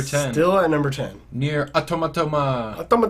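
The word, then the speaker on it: NieR: Automata: Near Automata. Yep, that's how. That's how it's pronounced.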